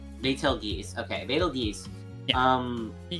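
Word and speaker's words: Betelgeuse: I don't know how to say that, but it's pronounced battel geese. Betel geese.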